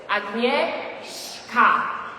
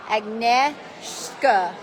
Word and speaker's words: Agnieszka: So it's Agnieszka. Agnieszka.